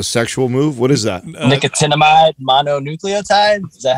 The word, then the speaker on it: nicotinamide mononucleotide: Nicotinamide mononucleotide?